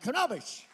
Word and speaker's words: Kobetich: Would you put your hands together for Sharon Cadillac Blue Walker and Darrin Kobetich?